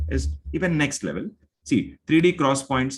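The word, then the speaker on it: 3D XPoint: even next level see 3d cross points are pronounced 3d cross point uh don't say 3dx point it is called as 3d cross point is a nvme technology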